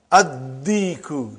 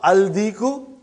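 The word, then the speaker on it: الديك: Addiku, not aldiku.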